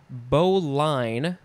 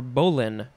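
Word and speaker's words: bowline: that's what i'm gathering here next we have bo line or bowlin b-o-w-l-i-n-e noun from the 13th century one a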